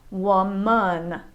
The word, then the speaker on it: woman: between woman and women woman has a schwa sound in the second syllable woman when men does not have a schwa sound women man men woman women hey guys thanks